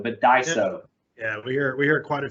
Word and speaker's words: Daiso: even say it Daiso people want to say diiso but Daiso yeah we hear quite a few pronunciations so uh from a brand awareness it's Daiso Daiso well so Daiso is a really unique company